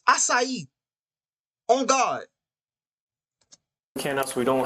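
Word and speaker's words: açaí: just spelling wrong mispronunciation it's not an aai bow either it's assai on God can we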